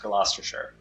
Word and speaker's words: Gloucestershire: Okay, this is pronounced Gloucestershire.